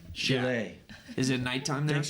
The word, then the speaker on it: Chile: It's pronounced Chile. Chile.